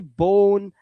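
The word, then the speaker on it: bone: जैसे बोन last का इ नहीं पढ़ना।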